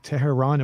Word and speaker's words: Tehran: the future dream no getting back to terror tehran am i pronouncing it correctly yeah that's correct yeah okay